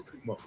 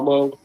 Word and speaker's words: Cuomo: Uh is it is it Kumo Ko? Kumo. It's Kumo. Quomo. Quomo. C U O M O. Quomo. Yeah. C. I got I know how to spell it, but yeah. Quo quo. Quomo. I think it's Quomo.